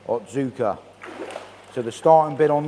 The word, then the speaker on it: Otsuka: got the Ki Utsuri from, how do we pronounce this one, Rad? Ki The breeder, Utsuri from Otsuka? Otsuka. Otsuka.